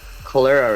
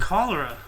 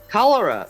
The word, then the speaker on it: cholera: whole tuberculosis and Calera I thought it was called Calera or is it cholera how do you say it then cholera cholera okay all right oh my